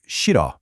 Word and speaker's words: 싫어: First, with the word 싫어, that H at the beginning is basically silent. You don't really pronounce it, so it sounds a lot more like 싫어.